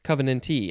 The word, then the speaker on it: covenantee: covenante or just covenant covenantee i think the t is always emphasized because it is a